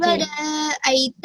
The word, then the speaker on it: ورأيت: ورأيت الناس يدخلون في دين یہاں پر حرف را کو موٹا پڑھا جائے گا. ورا، ورا نہیں پڑھیں گے. ورا، ورأيت الناس. ورأيت الناس يدخلون في دين